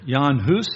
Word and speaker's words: Jan Hus: Then there's another man named John Huss, or Jan Hus, if you get into the ethnic pronunciation, who died 100 years before, in 1415.